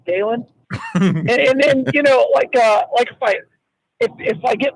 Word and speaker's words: Galen: On an almost daily basis, I'll say my name and people will say Gale. I'm like, no, Galen.